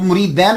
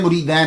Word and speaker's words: मुरीदीन: गलत नहीं निकालता वो मुरीदैन का मतलब होता है दो मुरीद ये तसिया का सिखा है तो अक्सर लोग बोल देते हैं जी वो वो अपने मुरीदैन की तरफ चले गए हैं उनके बड़े मुरीदैन है नहीं मुरीदैन दो को कहते हैं मुरीदीन होता है तो जितने मुरीदीन होते थे।